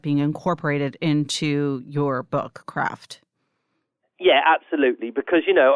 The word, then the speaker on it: Craeft: of this book which I don't think is pronounced differently but you choose to call the book craft c r a ft